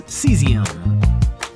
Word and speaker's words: cesium: Let's learn to pronounce this last one in our song. It's cesium.